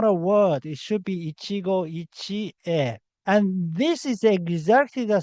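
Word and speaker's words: 一期一会: But the same thing is about to happen with Ichigo Ichie. So Ichigo Ichi is not correct. The correct word is Ichigo Ichie.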